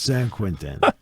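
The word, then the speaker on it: Saint-Quentin: Quintan, but it's pronounced San Quinten like who will be the first to botch that?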